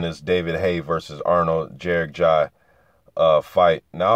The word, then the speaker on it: Gjergjaj: David Haye versus Arnold jerck ji uh fight now I've heard his last name pronounced different ways from watching his fight on his fights on YouTube Jer ji and jerk ji so I repr pronounce